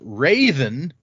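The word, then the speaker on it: Hrathen: again according to this that is pronounced raven with a very subtle h at the beginning so like crazen prison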